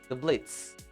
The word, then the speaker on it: Blitzo: And in the pride ring, the main character is called Blitzo. Okay, the O is silent. The Blitz.